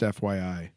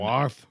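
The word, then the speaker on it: fuath: It's pronounced FYI. This, I swear, this Celtic stuff, it's great, but guys, I'm not mad at you, but it's real tough to try and get this right. It's spelled F-U-A-T-H, and Fwarth. I think it's pronounced foie.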